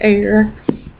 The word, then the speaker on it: Eyre: would even really know how to pronounce hair jane eyre and i very rarely